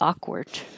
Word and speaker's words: awkward: A and I move awkward or a You might hear a little sound as I pull my tongue down from the K position, but you don't make the K on purpose like award. That would be awkward.